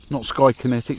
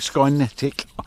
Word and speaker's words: Skynetic: Not Skykinetic, Skynetic. I'm pretty sure it is.